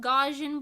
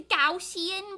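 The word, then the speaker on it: Gaussian: whole discussion about that cuz I used to think it was pronounced gajan blur but then everybody was like actually Mimi it's gausian blur um you're stupid and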